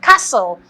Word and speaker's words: castle: The T is silent. Yes. So if you're asked to spell the word castle, you're not sure if it's castle or castle. It's not castle. It's castle. But it's spelled C-A-S-T-L-E.